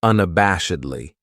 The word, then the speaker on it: unabashedly: Then we have unabashedly. This adverb has five syllables and the stress is on that third syllable that bash unabashedly. That second syllable has that schwa that uh sound unabashedly.